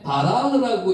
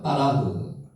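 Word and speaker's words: בָּרַח: 요게 바라흐라고 읽을 수도 있는데 요게 빠라고 읽은게 정확한 발음입니다. 빠라흐.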